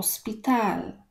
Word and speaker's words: hospital: szpital oto speed al chad języku hiszpańskim jest nie ma więc to nie czytamy o szpital tak samo my mówimy